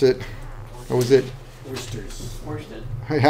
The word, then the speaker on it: oersted: Oersted. Yeah, I always want to say it. It's like, no, it's Oersted's.